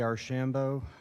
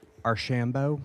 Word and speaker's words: Archambault: My name is Archambault. I am the civil engineer on this project, working for. Can Yes, you just sir. say your last name again? Archambault.